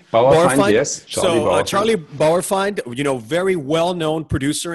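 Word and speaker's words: Bauerfeind: um i don't know if i'm going to pronounce his last name correctly but charlie bar borified yes charlie bowerfind you know very well-known producer in the world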